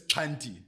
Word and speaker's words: Xhanti: So it's Xhanti. Right, okay. Yeah, Xhanti. So I always say to people, it's like, or at least for me, it's a click on the left side of your mouth, Xhanti.